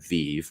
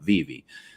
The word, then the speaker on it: VeVe: I was covering it I called it VI because there were no videos on YouTube about Viv telling me how to pronounce it right or even covering